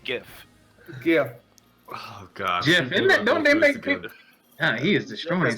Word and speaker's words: GIF: stop you there Alex it's pronounced GIF oh God he is